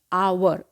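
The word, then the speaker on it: hour: एक quantity next है अवर ह ओ यू आर अवर यहां पर ह हमारा साइलेंट है और साउंड ए रही है तो इसलिए नेक्स्ट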